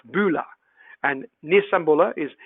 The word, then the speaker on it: bula: how do you pronounce these well bulla is pronounced bula and nisambula is nisa bula vanaka vennaka venaka